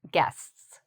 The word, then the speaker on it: guests: Those 5 people would be your guests. It's a hard word to say because of the STS.